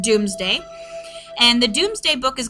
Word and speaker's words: Domesday: Looks like Domesday, but it actually is pronounced Doomsday.